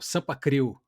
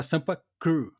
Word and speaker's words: Sampa Crew: Eu lembro que tinha uma banda de pagode que era o Sampa Crio, Sampa né? Crio, sim. Só que se fosse a pronúncia correta era Sampa Crew, né?